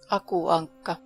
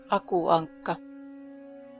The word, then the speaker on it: Aku Ankka: Aku Ankka. Aku Ankka.